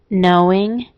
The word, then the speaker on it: knowing: upcoming reading of Romans the first two have silent letters a silent W and w r a silent K and K N and a c as s and the EI as long e try them now wrath knowing receive the first word divides